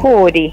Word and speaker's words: Juri: atendernos Hola buenos días No gracias a ustedes Yuri juuri Cómo debo pronunciarlo correctamente Juri juuri juuri así de sencillo así de sencillo